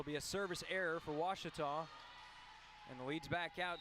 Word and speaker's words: Ouachita: taylor king law uh i've heard people say oh a cheetah oh wichita oh a cheetah is it pronounced oh akita searching for washi at a baptist university back